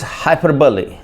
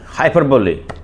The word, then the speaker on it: hyperbole: The 10th word is hyperbole. Hyperbole. H Y P E R B O O L E. Hyperbbole is is pronounced as hyperbole not hyperbol.